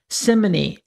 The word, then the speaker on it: simony: So one of the worst sins in the church is the sin of simony, or some people pronounce it simony, S-I-M-O-N-Y, and that is charging money for sacraments and things like this.